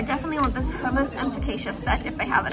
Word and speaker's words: focaccia: Is that how you pronounce how do you pronounce that bread? Yeah, I'm asking the wrong person. Focaccia?